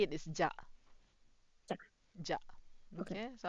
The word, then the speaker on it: じゃ: the easier form to say it is ja.